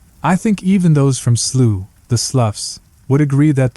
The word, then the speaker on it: Slough: not from the UK, Slough isn't pronounced like though, it isn't pronounced like through, it isn't pronounced like thought, it isn't pronounced like cough, and it isn't pronounced like rough, although sloughs are, and rough is, of course, a perfect adjective to describe it. No, Slough is pronounced like the British English plough, or plough, as the Americans would have it.